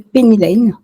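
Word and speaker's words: Pennylane: par le logiciel s'appelle penyan penyan Peny prononce je dis la française pour le coup c'est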